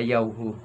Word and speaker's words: Yahweh: At kami po, ito po ay aming ipinopronounce na Yahweh.